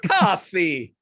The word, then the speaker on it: Casey: And it was the screenplay was actually written by the even more Italian Casey Robinson. no, it's pronounced Cassie.